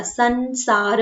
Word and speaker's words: संसार: यह संसार बन गया सन मतलब जब बिंदी लगती है तो उसको प्रोनाउंस में न वाला संसार आप बोल के देखे तो इस टाइप का प्रोनाउंस होगा और अगर मैं उसी